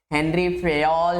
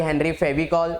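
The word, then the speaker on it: Henri Fayol: हेनरी फेयल है ये। हेनरी फेयल ना कि हेनरी फेविकॉल। कुछ बच्चे हेनरी फेविकॉल बोल देते हैं जो कि गलत है।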